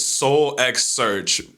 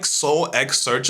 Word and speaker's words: SoulxSearch: So I'm gonna pronounce the X in SoulxSearch.